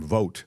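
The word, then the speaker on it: Vought: guy Russell it spel it looks like it would be VA I think he pronounces his last name vote but anyway um it's it's v u ght but uh so he's trying to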